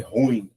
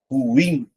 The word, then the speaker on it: ruim: Na sete, o pessoal também costuma fazer ruim, como se fosse uma sílaba só, só que fica assim, ó, ruim. Então, se é ruim a última sílaba tônica, então eu chamo de oxítono.